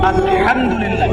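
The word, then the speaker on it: الحمد لله: আলহামদুলিল্লাহ। এই হা এর মাখরাজ কোথায়? হা এর মাখরাজ কোথায় বলেন একজন? কণ্ঠনালীর মাঝখান থেকে।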